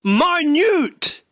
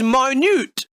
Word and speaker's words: minute: look at the adjective if this was a noun then it'd be pronounced minut it but since this is an adjective you blind bastard this is minute as in very small do you understand now